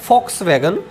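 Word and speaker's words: Volkswagen: इसके बाद फॉक्सवैगन, यानी कि इसको लिखा तो वोल्क्सवैगन लिखा गया, आपने देखा होगा, चित्र में देख पा रहे हैं, परंतु इसकी जो जर्मनी की प्रोनाउंसिएशन है वो है फॉक्सवैगन। फॉक्सवैगन ने 1930 में एक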